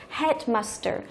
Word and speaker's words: headmaster: thì cái thằng Master headmaster thì đây là danh từ ghép cho nên là không thưởng với danh từ ghép thì trọng âm chính của từ nó sẽ trở thành phần đầu tiên được rồi các hệ